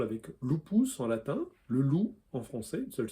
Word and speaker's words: loup: Autre exemple avec lupus en latin, le loup en français, une seule syllabe, lupo en italien, deux syllabes.